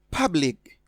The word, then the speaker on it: public: Option D is pronounced public. So, going by that, we have mulatto having the stress on the second syllable, which is different from mystery on the first, pucker on the first, and public on the first.